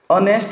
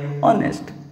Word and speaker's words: honest: h-o-n-e-h-d it comes like honest or there will be awesome so that's where it will be an honest man h is silent here in this way island